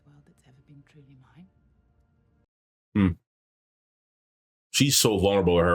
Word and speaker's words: Min: this yeah and Min yes Min not Lin I said her name wrong Min you'll be asking